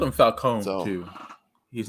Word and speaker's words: Falcone: well they called him falcone though too he's not he's uh yeah you put the emphasis on the wrong syllable and then it begins it was falcone and this is they